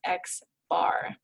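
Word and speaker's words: x̄: So when we see x bar is equal to something, we're calculating or we're finding the mean, and we would pronounce this as x bar.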